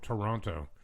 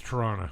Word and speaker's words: Toronto: not from here and they go Toronto like yeah dude that's not how you say it no it's Toronto Toronto right it's like when people